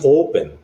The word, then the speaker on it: open: Só que eles vão levar em consideração, nesse caso específico, a sílaba tônica, que recai sobre o O. Open é a sílaba mais forte.